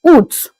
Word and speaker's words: août: In French, August is pronounced as août.